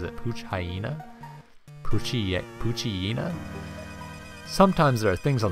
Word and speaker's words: Poochyena: another Poochyena Poochyena I've always been kind of confused by the pronunciation of that cuz I've always said Poochyena but I later realized that it was like a hyena it was like a play on hyena so like is it